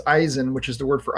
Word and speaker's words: Eisen: Asin is the word for in German it's Eisen which is the word for iron and uh